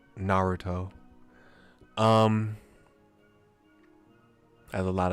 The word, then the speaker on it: Naruto: do for some like I say Naruto Naruto instead of Naruto um I have a